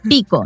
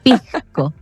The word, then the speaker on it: pisco: Entonces, claro, no es lo mismo porque, claro, muchas veces mis estudiantes dicen, "Ah, bueno, los chilenos no pronuncian la s pico, no, pisco, pisco, o el clásico